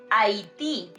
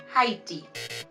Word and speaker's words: Haití: Remember that letter H is silent. Okay, so we say Honduras, not Honduras. Also, we say Haití, not Haiti.